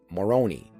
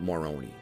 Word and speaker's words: Moroni: Many years ago, I was talking to a Mormon friend, and he pronounced it Moroni.